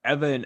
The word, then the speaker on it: Ewan: Erliden not that far behind, but even Evan, I want to say it's Evan, is pronounced, or it's spelled EWAN, but I'm Evan, Cristobal son.